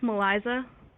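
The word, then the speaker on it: Malisce: i call you male it's pronounced maliza eliza okay yeah um and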